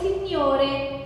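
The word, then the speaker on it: signori: حرف ال وراها اي، ما الجي هنا اسمها موطة، موطة يعني سايلنت ما بتتنطقش، فبتبقى نطقها ني ني ني اكيد بخنف فيها سنه كده ني ني. زي لما اجي اقول سينيوري، سينيوري يا استاذ يا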